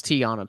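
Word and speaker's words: Teyonah: not too surprising um tayana you we know we um how's you how do we say her name i don't i really do not want to mispronounce her name oh it's it's tiana paris yeah tiana you know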